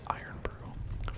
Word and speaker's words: Irn-Bru: I'm looking up facts about Iron Brew.